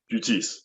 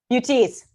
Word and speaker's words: Buttice: Please pronounce it for me. Buttice. Buttice.